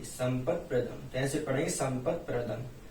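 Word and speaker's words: संपत्प्रदम्: संपत् पदम नहीं, यहाँ पर आपको संपत् प्रदम कर लेना चाहिए। संपत् प्रदम कैसे पढ़ेंगे, संपत् प्रदम, ये प्रा हो जाएगा।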